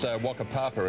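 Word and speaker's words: Whakapapa: Well, I think it's pronounced Wakapapa, isn't it? Well, actually, I think in the Maori language, the WH is pronounced F.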